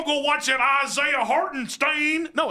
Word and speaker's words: Hartenstein: Hartenstein.